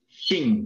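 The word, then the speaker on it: 精: Este se pronuncia, vea. Shin.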